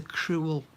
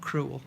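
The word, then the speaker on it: crewel: i'm using here is a cruel needle not as in it's horrible and harsh but it's spelt cruel c r e w e l okay so i'm not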